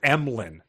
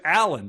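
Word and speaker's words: Emlyn: Spotless yellow suit smiled my name is emlin that's spelled e m l YN you told me your name was Allan said Susan Gman spelled a Lyn the Android chuckled lots of people make that mistake Allan and I look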